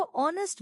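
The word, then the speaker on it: honest: ही इज ऑनेस्ट मैन ऑनेस्ट में as silent है इसको ऑनेस्ट बोलते हैं वोवेल साउंड है वोवेल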